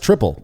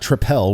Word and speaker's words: Tripel: It is pronounced triple. Apparently, that is the way you say it. It's not tripel, which is how I said it for years.